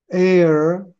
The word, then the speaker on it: ere: air, ERE는 발음을 air라고 불러요. 공기 발음이 똑같아요.